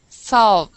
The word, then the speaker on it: salve: this word here it's it's similar to the pronunciation of solve which would be to solve a crime but we say Salve solve good to solve my